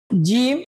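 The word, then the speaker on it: جيم: আমরা অনেকে এটাকে বা বলি, এটা বা হবে না, এটা নাম হবে জিম। হায়ের মাঝখানে ফোঁটা দেওয়া আছে, আমরা এটাকে কি বলবো? জিম। আর জিম উচ্চারণ সবসময় শক্ত করে আদায় করতে হবে।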